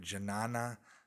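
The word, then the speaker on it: ज्ञान: It is related to the Sanskrit Janana, pronounced Yana, meaning gnosis.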